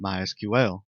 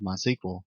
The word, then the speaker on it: MySQL: As you can tell, I've been calling it MySQL. That is the correct pronunciation. However, it is also commonly called MySQL.